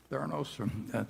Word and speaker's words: Theranos: And Theranos, I think, is that the way you pronounce it, Charlie? Theranos? Yeah.